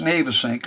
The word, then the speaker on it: Navesink: The Navesink and the Navesink River, it's pronounced Navesink according to the old locals who've been living